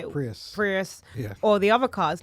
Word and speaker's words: Prius: in the UK where there are the Toyota Paris how do you say Prius Prius yes or the other cars no they're little